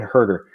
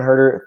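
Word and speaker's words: Huerter: know who he is I'm sorry it's Kevin hurt that's how you pronounce his name Kevin hurt her so Kevin hurt her $3,600 player will plug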